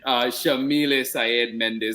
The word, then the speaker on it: Yamile Saied Méndez: that we're with um Shamil Sayed Mendes and that name too I love saying it so much because now I know I'm saying it correctly at least but I